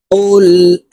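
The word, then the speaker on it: قُلْ: পড়বো দেখুন আউজু আউজু কুল আউজু কফের উচ্চারণ জিহ্বার গোড়া তার বরাবর উপরের তালের সঙ্গে লাগাইয়া উচ্চারণ করব এই কফকে ক্ষেত্রে সাকিন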